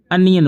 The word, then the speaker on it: onion: अब देखिए मैंने जानबूझ बोला ऑनियन, अब इसे स्पेलिंग में ONION, ये दिखता तो ओनियन है लेकिन आप ओनियन बोलेंगे नहीं, अनियन बोलेंगे।